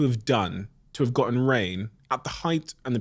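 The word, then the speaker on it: Rainn: Rain. Ele chama Rain Wilson. Só que é com 2 N's, ao contrário de chuva, que é com um N só, rain. A pronúncia é a mesma.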